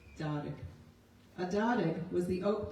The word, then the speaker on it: Darag: From his website, he writes that Darag is pronounced like car and rig, Cardig, Darag.